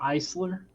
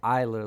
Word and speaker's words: Eisler: I think I say Eisler, but I think I heard somebody say Eiler last night, and I was like, oh shit, have I been saying his name wrong the whole time?